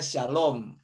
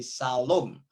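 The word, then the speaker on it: שלום: ketemu dengan kata begini dibacanya Syalom ada sin lammerts kemudian ada wow wow kemudian ada menjadi Shalom kemudian ya kita tulis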